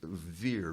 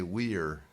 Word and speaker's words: vir: root of virtue is veer v-i-r or as the i was raised catholic so we pronounced the v as a v the old romans would say weir which i always thought